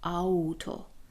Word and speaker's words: Auto: While they together are pronounced /aw/ and 'to' is /to/. 'Auto'. So it's /ow/ like 'Auto'.